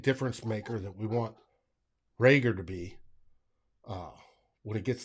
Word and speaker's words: Reagor: This first week I heard the other saying the pronunciation guide is actually Reagor.